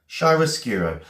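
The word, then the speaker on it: chiaroscuro: Shyroscuro. Okay. And it's a noun. I'm going to spell it slowly. C H I A R O S C U R O. Shyracuro. Shyroscuro.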